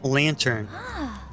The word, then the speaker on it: lanthorn: it in alfred's lanthorne lanthorne lantern though it is spelled land thorn the lanthan this must